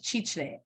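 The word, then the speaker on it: Chitré: Can I ask you, you said Chichre. Chichre is the Retire Overseas Index beach town in Panama on the Yeah. Pacific Coast. Chichre. How do you spell it? CHIR, sorry, CHITRE, CRE.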